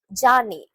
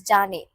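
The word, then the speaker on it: じゃね: Jane. So this should be pronounced as Jane. Jane.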